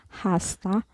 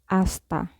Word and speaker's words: hasta: alphabet is H so in Spanish the letter H is not pronounced so um the letter